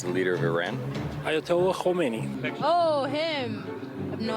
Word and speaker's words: Khamenei: Khamenei with the silent K. Okay, yeah, Khamenei.